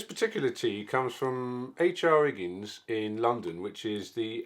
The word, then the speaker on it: Higgins: Higgins, mate, innit? Makes tea and coffee. It's Higgins, dear. There's an Higgins. There's an H at the beginning.